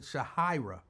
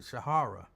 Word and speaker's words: Shahira: She said, my father created my name and he pronounced it Shahira, but he wasn't around and my mom pronounced it Shahara.